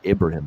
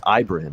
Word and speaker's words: Ibrahim: ibrahim for the season i got to stop calling him ibrahim it's ibrahim he wants it called pronounced like that leg injury for him